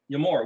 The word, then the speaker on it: Emor: So this word that they spell in English, E-M-O-R, is their pronunciation with English letters, transliteration of the word Yod Aleph Mem Resh, Yamor, which means to speak or declare.